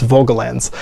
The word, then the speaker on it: Volgelands: So we looked it up on YouTube, and it's Volgelands.